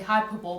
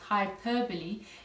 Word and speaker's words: hyperbole: hyperbole you might listen people say hyperbole but is pronounced hyperbole is when you exaggerate